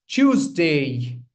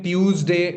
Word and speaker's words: Tuesday: This is Tuesday. Tuesday. Okay, not Tuesday. Tuesday. No, it's Tuesday. The ch sound is eminent over here. And that's where the stress lies.